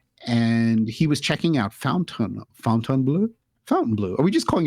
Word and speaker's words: Fontainebleau: Fountain Blue.